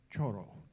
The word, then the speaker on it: choro: that Tad mentioned was choro. Choro. I don't know if I pronounce it right, but the choro master is in the house. Ron, is like a soft D, like choro.